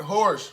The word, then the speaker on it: Horsch: Horsch rhymes with Porsche.